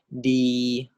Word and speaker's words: ดี: So this word is pronounced as di.